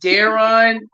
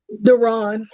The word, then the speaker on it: Deron: Is it Darren Fuller? Is that how you pronounce his name? Deron. Deron Fuller. Deron. Mhm. Deron Fuller.